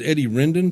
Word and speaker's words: Eddie Rendon: walling my guest for this segment is is Eddie Rendon did I pronounce that right yes sir I'm gonna vote